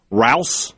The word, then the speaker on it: Rouse: Rouse, I think it's Rouse, like the grocery store.